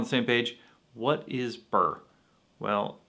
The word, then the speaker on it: Byrrh: ever heard is pronounced apparently this bottle is pronounced in french more like beard or beer but you know in